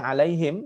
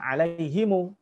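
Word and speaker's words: عليهم: Nah, pada alaihim, pada riwayat Hafiz dibaca alaihim, tetapi pada riwayat ini, riwayat Warash, itu dibacanya alaihimu. Ya. Maliki dalam Al-Fatihah dibaca pendek. Tulisannya alaihim, tapi alaihimu dibacanya silah, tidak dibaca alaihim.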